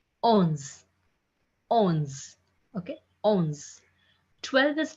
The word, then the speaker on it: onze: 11 is pronounced as ons. Ons.